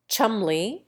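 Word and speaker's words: Cholmondeley: John, Poole for Powell, Weems for Wemyss, Cadogan for Cadogan, Mowbray for Marlborough, Key for Keynes, Marchbanks for Marjoribanks, Beauchamp for Beauchamp, Chumley for Chalmondley, Trossley for Trotter's Cliff, and Darby for Derby, not to mention Magdalen for Magdalen.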